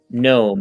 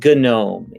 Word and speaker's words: GNOME: not mate it's mate it's not gnome it's gnome it's not um uh